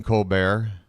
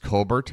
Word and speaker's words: Colbert: It's kind of like Stephen Colbert. Apparently, it is pronounced Colbert, but he's like, well, I like Colbert. So I guess I can use either one.